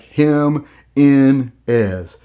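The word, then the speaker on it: Jiménez: Now break it down for me. Like him in is, him in is. And that's how I'm pronouncing it. Him in is, him in is, Jimmy knees.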